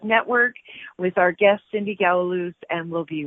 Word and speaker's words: Gouweloos: So Gouweloos? Gouweloos.